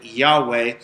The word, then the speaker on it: Yahweh: a ridiculous if you take in Hebrew you know that they would not have pronounced a Jehovah it would have been Yahweh or closer to that in fact they wouldn't